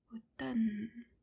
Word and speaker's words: automne: Autumn or fall in French is called automne. So again we have two very similar words. Automne. The M and the N are pronounced just N. The M is silent.